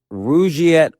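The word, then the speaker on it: Rugiet: But if you're looking for something beyond the usual pill, meet Rouette Ready. And Rouette is spelled R U G like rug and IE T.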